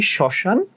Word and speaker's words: শ্মশান: যেমন ধরো, সমশান বলি না, সমরণ বলি না, আমরা বলি শ্মশান আর হচ্ছে শরণ।